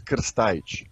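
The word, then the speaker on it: Krstajić: So I mean, coach Mladen Krstajic. Krstajic. It's very difficult to pronounce. The correct pronunciation is Krstajic.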